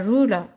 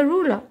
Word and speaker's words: ruler: Un autre exemple, a ruler. Le R n'est pas prononcé en anglais, donc vous pouvez écrire uniquement le E. Mais si vous regardez, ça s'écrit R-U-L-E-R. R-U-L-E-R. Donc comment que je vais l'apprendre?